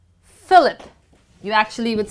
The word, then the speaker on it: Philip: Moving on to the next alphabet, PH becomes F. Philip. Philip. You actually would say F. Philip. Phoenix. Phoenix. And finally, Philadelphia. Philadelphia is placed in United States of America. So it's Philip, Phoenix, Philadelphia.